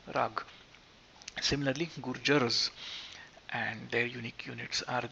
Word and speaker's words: Gurjaras: is as it appears then come the gurjars and not the gurjaras as unfortunately one is prone to pronounce it as because of the a but as i said quite often in indian words the a does not extend to become an ah just like the you